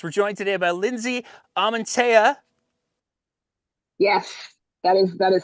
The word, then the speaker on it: Amantea: uh energy projects we're joined today by Lindsay amantea yes that is that is how you say